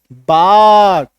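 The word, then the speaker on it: bark: अभी क्या होता है यहां पे देखो, ये जो आर है ये हल्का साइलेंट भी होता है, सेमी साइलेंट इसको हम लोग बोलते हैं। पूरी तरीके से साइलेंट नहीं होगा, आर का हल्का सा एक झलक सा आएगा। ठीक है।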